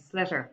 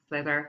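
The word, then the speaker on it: sliotar: Okay, it's a slitter or slither. You'll hear various pronunciations of the Irish word, but it's to all intents and purposes, it's a ball.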